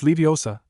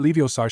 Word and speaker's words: Leviosa: Besides, you're saying it wrong. It's Leiosa, not Leiosar," she explained.